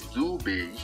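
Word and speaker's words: Dube: bonsoir à tous lcky Philippe doubé prononcé doubé né le 3 août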